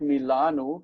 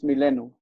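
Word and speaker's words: מלאנו: We would expect milanu, because like the diber, the a becomes a, but this syllable stays open because that aleph is meaningless, and it's milenu.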